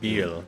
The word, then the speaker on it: Pibil: Pibil. That's how you say it.